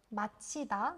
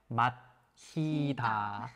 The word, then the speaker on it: 마치다: Yeah, like They nearly the same, like the same pronunciation, but when you write down, like it's different.